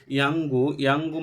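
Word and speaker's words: 연고: আর এখানে বলছে ইয়াঙ্গু মানে হচ্ছে যে মলম। ইয়াং এটা অনস্কারের মতো উচ্চারণ করা হচ্ছে কারণ যদি নিয়ন বাচ্চিমের পরে গিয়ক আসে তাহলে নিয়নের উচ্চারণটা ইয়ং এর মতো হয়, এজন্য ইয়াঙ্গু বলছে যে ইয়াঙ্গু মানে হচ্ছে যে মলম।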